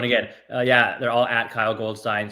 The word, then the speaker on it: Goldstine: They're all at Kyle Goldstine. There we go. Premiered here. Let's try that one again. They're all at Kyle Goldstine, spelled exactly like that. It rhymes with fine.